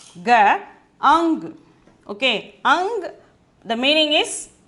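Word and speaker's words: अंग: The mild sound of the ka letters is nya. Okay, mild sound of the ka letter is nya. So that is why we are pronouncing it as ang.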